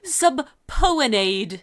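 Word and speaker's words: subpoenaed: looking at that and my brain wants to pronounce it no no no it's definitely subpoenade yeah like I just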